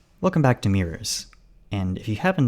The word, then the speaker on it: Tours: out that's not that the region in France is not pronounced like the word tour something closer to what I just said the bus departed from